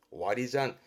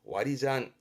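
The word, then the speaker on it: 割り算: 와리잔. 요때 산이 아니라 잔이에요. 와리잔. 와리잔 했던 겁니다.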